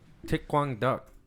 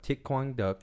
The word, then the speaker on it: Thích Quảng Đức: Thích Quang Duck. It's spelled like thick, but without the K. And then Quang is Quang. Just how it sounds. And then Duck is D-U-C.